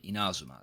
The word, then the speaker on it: Inazuma: a car a level a fivestar character from Inazuma. That's how you pronounce it along with a variety of weapons.